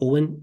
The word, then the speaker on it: Eoghan: So it's just my name, Owen. It's the complicated spelling, so I'll spell it for you.